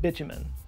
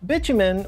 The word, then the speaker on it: bitumen: mistranslation of the word bitumen. Bitumen, or bitumen, I've heard it pronounced both ways, it's basically the same as asphalt.